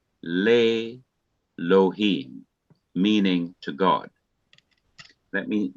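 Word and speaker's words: לֵאלֹהִים: But when le is put before Elohim, the E under the Aleph, which is this one, becomes silent and drops out. So the Aleph is not pronounced ordinarily, and the E drops out. The E is removed, it disappears, just leaving the Aleph. And the simple Shawa under the Lameth becomes long E, producing Le Lohim, meaning to God.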